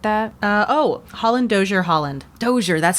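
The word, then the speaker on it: Holland–Dozier–Holland: group that wrote that uh oh Holland doer Holland doer that's how you say it okay it depicts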